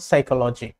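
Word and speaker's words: psychology: Silent P, বৈজ্ঞানিক কিছু নামের শুরুতে, যেমন সাইকোলজি, নিউমোনিয়া, বৈজ্ঞানিক বেশিরভাগ নামের সাথেই পিতে সাইলেন্ট থাকে।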